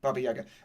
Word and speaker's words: Baba Yaga: Faye's already done a great job of introducing you to Baba Yaga, and I have to pronounce it in the trochaic form. Anyway, Baba Yaga, and I suppose this